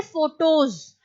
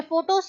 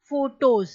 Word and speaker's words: photos: सारी फोटो है, तो मैं ये नहीं कहूंगी फोटोज, मैं फोटोज कहूंगी, लेकिन फोटोज की स्पेलिंग PHOTO, ES नहीं होगी, वहां पर स्पेलिंग क्या होगी? PHOTOS, फोटोज, ना कि फोटोज, ई की आवाज वहां पर नहीं आएगी, ठीक है।